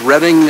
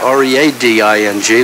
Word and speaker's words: Reading: yeah no I've heard of it sure it's reading uh spelled uh r-e-a-d-i-n-g like it's reading but they pronounce it reading and uh they're famous for